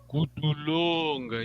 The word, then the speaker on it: kutulonga: Yeah, long vowel. Kutulonga.